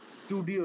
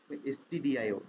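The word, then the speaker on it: stdio: এটা অনেক সময় অনেকে এই ভুলটা করে, এসটিডিআইও কে স্টুডিও লিখে ফেলে, উচ্চারণে অনেক সময় সেম দেখা যায়, তো স্টুডিও লিখে ফেলে, সো স্টুডিও হবে না, এসটিডিআইও।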